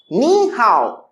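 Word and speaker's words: 你好: we spell hi hello and in mandarin we pronounce ni hao in mandarin we pronounce nihao let's speak with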